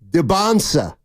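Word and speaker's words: Dybantsa: It's Debonsa. Debonsa. The T is silent.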